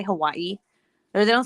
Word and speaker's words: Hawaii: Here in Hawaii, they have their own language too.